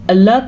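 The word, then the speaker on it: الله: بسم اللہ الرحمن الرحیم۔ بسم اللہ، لفظ اللہ سے پہلے زیر کی وجہ سے لفظ اللہ کو باریک پڑھیں گے، موٹا نہیں پڑھیں گے۔ ہاں کے تلفظ کا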